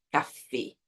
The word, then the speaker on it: café: Eu mantenho o som da letra E a pronúncia correta é café.